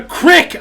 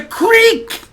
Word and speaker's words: creek: e not an I stop calling it a cck I don't care where from it's a creek sorry and Elvis asks